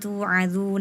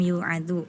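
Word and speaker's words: تُوعَظُونَ: Lafadznya dzalikum tu'adzu nabih. Tadi dibacanya dzalikum yu'adzu. Tak sama ya tuh tertukar.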